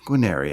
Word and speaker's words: Guarnieri: uh podcaster and overall great rad dude quinnery how are you sir from the spear talk